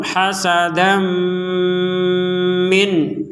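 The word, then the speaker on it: حَسَدًا مِّنْ: berhenti kalau dilanjutkan kuffaron hasadam Mini anfusihim Nah di sini ada tanwin bertemu mim maka kita masukkan tanwin ini kepada huruf mim sehingga kita membacanya hasadami disertai dengan dengungan hasadam min seperti itu kemudian ada nun sukun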